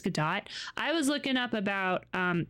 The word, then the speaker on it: Godot: It's Godot. I was looking up about... So I'm making a visual novel for my first go at being doing game dev stuff. But I want to use Godot, whatever, for a 3D idea when I'm done